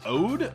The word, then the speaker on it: oud: instrument in the lead, which is an ode, or a oud. It's spelled O-U-D.